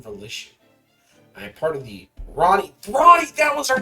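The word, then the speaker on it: Rani: R A N I. Ronnie. So, you are taking our acronym and signing it out phonetically as a word for our name.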